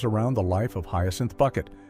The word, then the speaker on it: Bucket: Created by Roy Clark, the show revolves around the life of Hyacinth Bucket, who insists her last name is pronounced Bouquet, and her ceaseless attempts to climb the social ladder.